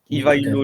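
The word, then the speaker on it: Ивайло: soir on va parler de pardonnez-moi pour la prononciation de ivailo c'est bien ça François ivailo oui ivailo le Bulgare fondateur à priori du 2è empire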